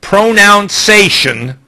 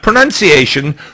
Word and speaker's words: pronunciation: are going to discuss the proper pronoun sation not pronunciation pronoun sation of words I got up